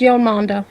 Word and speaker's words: Yolanda: Okay, how do you pronounce that? Because it's just Yo Mama to me. Yolanda. Yolmanda. Okay. Yolmanda. Yolanda. You're fucking. You can call me Mama if you wish to, but it's Yolanda. I'm just going to call you.